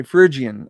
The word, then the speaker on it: Phrygian: let me play this virgin virgin virgin okay phrygian okay that's how you say it okay that that's